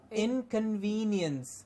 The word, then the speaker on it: inconvenience: Yes, often it is mispronounced as inconvenience. It is not, it is C-O-N at the beginning, in the middle, or also convenient, convenience, and inconvenience. It's kept the same way.